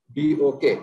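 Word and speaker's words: PMBOK: এটা আমরা অনেক সময় পিএমবক বলি, project management body of knowledge, কিন্তু আসলে প্রোনাউন্সিয়েশন করতে বলা হচ্ছে পিএমবক, PIMBOK, পিএমবক।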